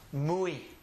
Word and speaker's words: muy: If the letter comes at the end of a word, it will also have an E sound. So the word is pronounced muy.